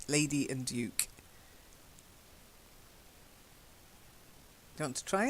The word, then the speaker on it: Duke: Now, the first one, I'm sure Americans say Duke, but as it's a British honorary title, then I'll give you the British pronunciation. It's Duke, a Duke, Lady and Duke.